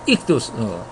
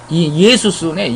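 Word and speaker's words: Ἰησοῦς: 익두스. 익두스라 그러죠. 크리스토스 그러는데 익두스는 이거는 예수스네. 예수스. 이건 뭐 죄송합니다. 익두스라고 읽어가지고 헬라 그래서 어떻게 이상하다 했더니 죄송합니다. 이거 예수스입니다. 예수스 예수라고 말하죠.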